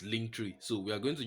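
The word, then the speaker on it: Linktree: if you have to pronounce it once like that this is link tree so we are going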